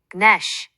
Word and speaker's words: gnash: G, N은 단어 처음에 올 때 G가 묵음이 되어 N 소리만 나요. numb, 난쟁이, gnash, 이를 갈다처럼요.